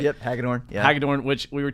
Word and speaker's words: Hagadorn: Yep, Hagadorn.